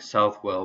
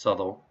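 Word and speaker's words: Southwell: lincoln then suttle or it says looks like south well but it's pronounced subtle south of lincoln there then peterborough denise to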